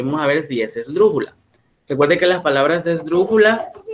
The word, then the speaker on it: esdrújula: Inclusive la misma palabra esdrújula es esdrújula porque lleva la mayor fuerza de voz en la antepenúltima sílaba, que es dru.